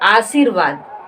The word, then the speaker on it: आशीर्वाद: कहां यहां पे होगा तो यहां प उच्चारण उसको करते हैं आर सवाद आर सवाद तो क्या हम आर सवाद लिखे हैं नहीं ना हमें क्या लिखना है आशीर्वाद हमें क्या लिखना है